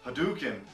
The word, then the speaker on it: Hadouken: kid play the game you'll hear Hadouken a lot I do get something like that but actually the pronunciation is hadouken hadouken hadouken yes at all hot-dogging